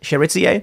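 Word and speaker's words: Chérizier: Jimmy Cherizier, is that how you pronounce it? Cherizier?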